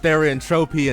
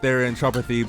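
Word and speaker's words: therianthropy: turning into ws and yes I know it's pronounced theant tropy and not the andropathy but thean tropy sounds like a [ __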